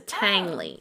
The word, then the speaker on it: Tangley: you know my my family name is langly and it's spelled like that only with a T it's a tangly yes yes so and